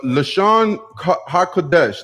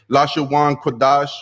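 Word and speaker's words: לשון הקודש: uh pseudo so the lashon hakudesh this is the actual tongue of the holies that's how you say it in hebrew you don't say la shawn qurdash you know that's definitely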